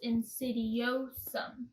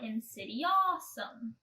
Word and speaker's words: insidiosum: That's pronounced insidiosum, not insidiosum, because it's definitely not awesome at all.